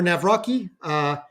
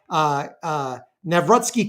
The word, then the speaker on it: Nawrocki: Karol it's Nawrocki, depending on, I believe if it's CKI, it's either Nawrocki or Nawrocki, depending on, there's a couple of different ways to pronounce it in Polish, but I would go with Nawrocki.